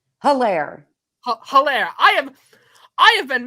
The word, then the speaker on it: Hilaire: This has been our very special guest, Deborah St Hilaire. Hilaire. Hilaire. Hilaire. I have been mispronouncing her name for an entire hour.